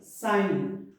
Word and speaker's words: sign: In silent G, you don't have to pronounce G letter, like foreign, champagne. We should say champagne, sign, fail. Foreign, champagne, sign, and fail.